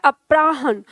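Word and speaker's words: अपराह्न: के बाद का समय अपराहन यह ह के नीचे न है ठीक है अपराहन ह का उच्चारण कम और न का उच्चारण पूरा आएगा जो बहुत अधिक बोलता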